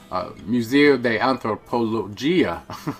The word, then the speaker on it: Museo de Antropología: We're going to take you over to the Museo de Antropología, is how it's pronounced in Spanish.